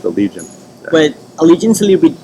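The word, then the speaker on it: Allegaeon: Alle Legion allegion yeah they just have an odd spelling but yeah pronounced allegian but Allegiance a little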